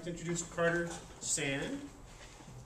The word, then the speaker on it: Sande: like to introduce Carter Sande, S-A-N-D-E, but the E is silent.